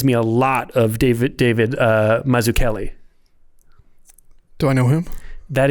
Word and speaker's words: Mazzucchelli: you can see sorry, I got to pronounce it correctly. He's Italian. Mazzucchelli. It's not Mazzucchelli. It's Mazzucchelli. Yeah.